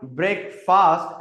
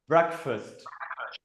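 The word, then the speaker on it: breakfast: So this is नॉट ब्रेकफास्ट। It's called ब्रेकफास्ट। ब्रेकफास्ट।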